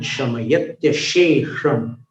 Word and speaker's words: शमयत्यशेषम्: शमयत्यशेषम्, दो श का उच्चारण तालव्य है, जीभ को नीचे वाले दांत के पीछे करके शे, शमयत्यशेषम। अंतिम वाला जो श उसका उच्चारण जीभ को ऊपर सिर की ओर लेके करना है।